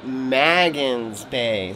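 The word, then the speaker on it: Magens Bay: of fun so it's actually called magan's Bay so mispronouncing it earlier but we're trying to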